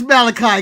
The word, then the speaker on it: Malachi: You got his name wrong. It's Malachi.